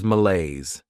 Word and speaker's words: malaise: Next is malaise. This word has two syllables and the stress is on that second syllable.